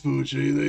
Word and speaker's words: Poochie: it's Pookie. I think is how you pronounce it. You mean the backup control system? I remember something about that. Well, I don't know. Well, I don't know how it's pronounced because I don't hear any audio in the game. But oh well. It's Poochie. He said it. Oh, Poochie. Okay.